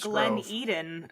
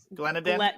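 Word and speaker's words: Glen Eden: I don't know um I mispronounced Glenn Eden last week on TV what did you say glennen Glenn it in yeah don't do that it was embarrassing it's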